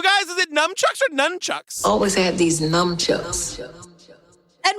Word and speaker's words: nunchucks: street with numb chucks did you say it with an M isn't it nunchucks is it I literally wrote it as nuu m b how do you say it it's nunchucks right well listen Myrtle